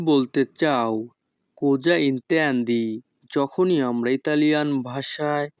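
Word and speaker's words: così: কোজা ইন্তেন্দি। যখনই আমরা ইতালিয়ান ভাষায় কাউকে বলতে চাইবো তুমি কি বলতে চাও, তখন আমাদেরকে বলতে হবে কোজা ইন্তেন্দি। তাই নাকি? এ কোজি। এখানে SI এর উচ্চারণ হবে জি।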